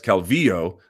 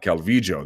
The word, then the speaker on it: Calvillo: pronouncing her name incorrectly she herself introduces herself as Calvillo not Calvi Joe there's a couple of videos of her on youtube pronouncing her name don't die on this